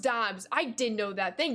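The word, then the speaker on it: Doubs: It's pronounced Dubes, right? Max Muncy gets it done. Let's go. All good, Brody. All good. All good. Right, what a shame. Why the bunts is still at 0. Get out of here, Constant. Dobbs. It's pronounced Dobbs.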